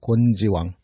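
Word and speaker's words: 昆: 곤지왕. 곤지라는 인물은 이 뜻풀이부터 하면 곤과 지로 돼 있어요. 곤은 해 옆에 비교하다 비자를 써서 이제 곤이라고 읽습니다. 그래 해를 위에다 놓고 밑에다가 비교하다 비를 써서 곤 이렇게 읽는데 이게 음식 이름에 바다에서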